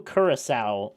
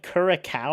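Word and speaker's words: Curaçao: I don't actually remember, but whoever drew Kurissowl like pronounced it super wrong. It was like kur he said like kuraca or something.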